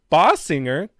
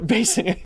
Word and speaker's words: Basinger: Kim Basinger. Did I pronounce that right? No, Basinger.